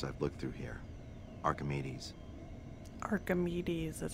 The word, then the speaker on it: Archimedes: in the papers I've looked through here Archimedes Archimedes is how you pronounce it well why are you here I